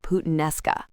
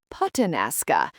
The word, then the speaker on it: puttanesca: But then I completely butchered the pronunciation of puttanesca. How badly did you mispronounce it? Michael, I said it so wrong. Instead of puttanesca, I confidently announced to the waiter that I wanted pollo alla puttanasca.